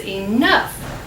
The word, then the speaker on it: enough: that's right this is enough so o u g h can also be pronounced like f can you find the